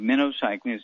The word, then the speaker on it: minocycline: eight week supply of minnow cycling is pronounced like the bait fish minnow cycling minnow okay and